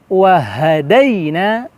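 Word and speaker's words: وَهَدَيْنَاهُ: ayat ke-10 terdapat kalimat wahadainahu wahadainahu najdain waha langsung ya kita ada huruf H besar terasa di situ Jangan sampai kita membacanya di WH wahadainahu nahun naj pantulan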